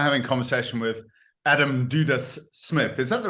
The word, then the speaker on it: Dudas: So I'm having a conversation with Adam Dudas-Smith. Is that the right pronunciation of your name? I suppose if you were getting really technical, do dash because it's Hungarian, but then I'm not fussy.